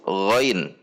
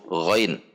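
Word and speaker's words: غين: the first ghoin letter, the ghoin letter when it is not harassed is read: ghoin-fathah-Ya-sukun-Nun-sukun = ghoin, not GHO so when it is not sacred, it is read as ghoin, then makhroj the ghoin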